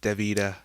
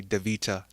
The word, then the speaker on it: Davita: it but this guest her name is davido but I would say divita and if you are